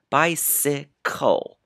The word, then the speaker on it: bicycle: The first C sounds like S because the next letter is E, I, or Y. This time it's Y. The second C sounds like K because the next letter is not E, I, or Y. It's an L, bicycle.